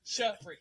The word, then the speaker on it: Shari: Two syllables. Shari.